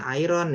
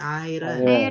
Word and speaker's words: iron: Kemudian, nah ini bacanya jangan iron ya, tapi iron.